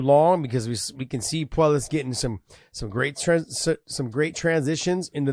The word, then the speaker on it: Puelles: Puelles.